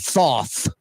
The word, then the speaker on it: Thoth: to what do you mean Miss peaches it's pronounced tho th Thoth okis Mid City to have been running